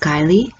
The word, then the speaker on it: Guiley: I believe her last name is pronounced Guiley, but I'm going to